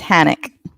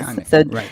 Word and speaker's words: Hanek: It's Hanek. Yes. Hanek, so think of panic with the ick at the end.